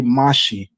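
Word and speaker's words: משיח: So one of the things that you just enlightened me on is that the pronunciation drops the chet in Samaritan Hebrew. And so that you would essentially say Mashi, which Mhm.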